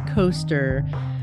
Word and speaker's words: Koester: have with us coaster I asked him how do I pronounce your last name and he's like it rhymes with rollercoaster or no it just sounds like roller coasters right coaster so